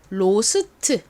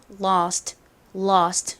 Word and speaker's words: lost: 한국식으로는이 단어를 보통 로스트 이렇게 발음하고 표기하는데 원어 발음으로는보다는 lost lost 이렇게 살짝 어 발음에 가깝게 소리가 납니다.